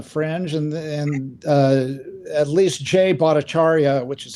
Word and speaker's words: Bhattacharya: Yeah, these guys weren't slackers on the fringe, and at least Jay Bhattacharya, which is how it's pronounced, was interviewed more than once, I think,